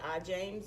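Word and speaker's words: Ijams: name is arms last name is spelled IJ am yes a lot of people say I James and I do answer to that so it's okay if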